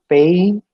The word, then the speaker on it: pain: It is pain or pain. It is not pen. When you pronounce P-A-I-N as pen, the native speaker would understand it as P-E-N.